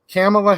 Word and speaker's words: Kamala: I'm going to pronounce her name like Biden does. Kamala Harris, like camel, like the dromedary. That's how Biden pronounces it himself.